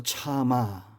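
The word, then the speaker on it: צמא: 그 첫째는 갈망이라는 단어입니다 히브리 말로 차마 우리나라 말로 말하면 참마 이런 뜻입니다 참는다 아니라 참아 말 못하겠네 때 똑같은 발음이 참아 이거는 목마르다 이런 목마른 중심의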